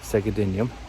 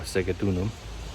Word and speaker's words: Segedunum: there the roman name segadenium or segatunum however you want to see it it's one of